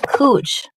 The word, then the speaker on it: Couch: It's not Cooch. I don't know. If Barbie hears it, she'll know what I'm talking about. Look it up. Just look it up. Portland. Cooch Street. Couch. Oh, spelled couch, pronounced cooch.